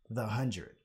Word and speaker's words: The 100: 100 or as i now know it's actually pronounced the hundred so this is part two where i'm going